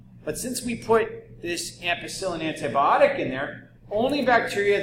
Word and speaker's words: ampicillin: give you an any substance that kills bacteria that rhymes with penicillin not kind of so much nope ampicillin okay so we're growing